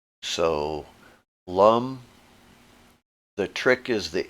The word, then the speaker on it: lam: with an a like lum is spelled l a m and that's always pronounced as an uh unless it has a line over it so lum the trick is the